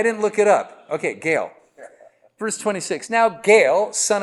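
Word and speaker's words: Gaal: mean if it's bail it's got to be Gail right not Gall I always want to say go and go but Gail is everybody with me I didn't look it up okay Gail verse 26 now Gail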